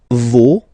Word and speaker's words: vos: Okay, and then for the plural, no, vos, and then leur. Okay, so remember, even if you've got this final s, you don't pronounce it, as it was the